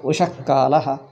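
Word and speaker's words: उषःकालः: Here also, Ushaha Kala we don't say. Visarga should be half. Ushakalaha, Antahpuram.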